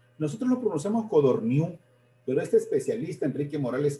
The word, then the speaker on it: Codorníu: de 400 páginas, como Codorniu, Codorniu sin el acento en la U, acento en la U, no, sino en la I.